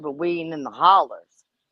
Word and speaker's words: holler: okay what is a holler well holler is actually not the right word it's it's the local uh pronunciation it's hollow h-o-l-l-o-w but locally they pronounce it a holler in in western said